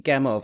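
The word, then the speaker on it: Gamow: I was wondering, actually, you say Gamov, and that would be how I pronounce it, but in general, Americans don't tend to do the V for a W. But from the research, it's definitely Gamov, yeah.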